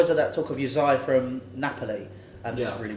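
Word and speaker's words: Hysaj: Uzai. Uzai. Oh. Yeah, That's how you say it. LC Uzai.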